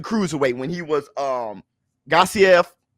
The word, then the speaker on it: Usyk: when he was um gossip that's how you say his name when he was fighting